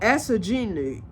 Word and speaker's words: Asaginu: Hold on. Oh, Asingnu. It's spelled A-S-A. Oh, Asaginu.